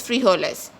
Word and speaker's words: frijoles: Guys, remember J is pronounced as hota in Spanish, so it is pronounced as los frijoles in Spanish, which means the beans.